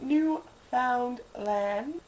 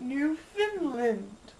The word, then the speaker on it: Newfoundland: Anyways, it's pronounced Newfoundland, not Newfoundland.